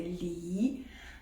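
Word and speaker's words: 梨: Parce que le parapluie en chinois c'est san, san, et le poire c'est li. Donc ces deux mots-là, la prononciation c'est très très proche de la prononciation li comme séparation.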